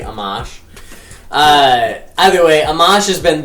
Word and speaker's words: Amash: I feel like Amash I like because it rhymes with smash. But I think it's actually Amash.